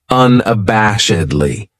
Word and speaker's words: unabashedly: then we have unabashedly this adverb has five syllables and the stress is on that third syllable that bash unabashedly that second syllable has that schah that uh sound unabashedly what it means